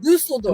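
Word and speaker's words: Düsseldorf: Dusseldorf.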